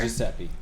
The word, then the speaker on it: Giuseppe: to Giuseppe.